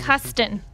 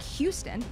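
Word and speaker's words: Huston: Jack Hust.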